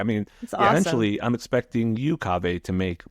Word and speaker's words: Kaveh: So I say Kaveh like agave. Yeah. You say you have a little softer kava like agave. I say it like agave.